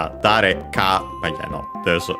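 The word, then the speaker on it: 誰: After that, we have dare, which is the interrogative, which means who, accented on the first syllable.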